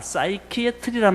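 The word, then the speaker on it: psychiatry: 그 말이 합쳐가지고 P자는 묵음이니까 사이키애트리란 말이 거기서 나온 겁니다.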